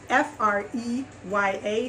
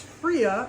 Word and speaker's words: Freya: today is the it's f r e y a so it's fria or freya however you pronounce that i'm gonna say fria this is the freya